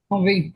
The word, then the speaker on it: Envie: Envie, is that how you pronounce it? Envie, yeah.